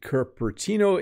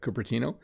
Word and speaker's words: Cupertino: from hiroyuki greetings bob when i lived in curtino in the u.s i see i don't even know how to pronounce that cupertino i used to dress up as a monster